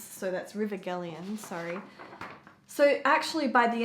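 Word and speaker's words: Gelion: beyond the river uh jelian gallian H I think G's are pronounced as yeah Jah hard is so that's River gallian sorry so actually by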